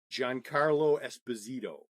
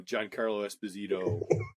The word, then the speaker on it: Giancarlo Esposito: let me get the name right because it's pronounced a certain way giancarlo esposito who plays oh wow in the mandalorian yeah